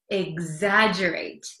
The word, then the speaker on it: exaggerate: it again exagerate it looks like it's hard to um pronounce because there's an X there's two G's it's kind of a mess but it's exaggerate exaggerate okay so do you